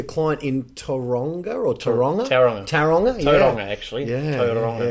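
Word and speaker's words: Tauranga: Taronga, yeah. actually. Yeah, Taronga. yeah, hard to pronounce. That's Aussie, hard to pronounce. You gotta roll the R.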